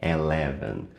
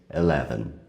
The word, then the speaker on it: eleven: A gente tem a tendência a falar eleven, mas é um pouco mais sutil. A gente quase não pronuncia o som do E no começo, eleven.